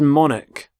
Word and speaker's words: monarch: current Queen so Monarch so the CH there makes the C Sound Monarch the start of the